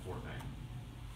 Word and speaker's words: Fortnite: And for a lot of people who don't actually know what Fortnite is, they mispronounce it and call it Fortnite. It's not Fortnite, it's Fortnite.